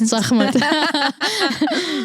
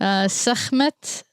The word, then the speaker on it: Sekhmet: I read it in Iraqi way, so I read it Sekhmet. Yeah. Sekhmet, I think that's how they say it. They should be, because it's KH.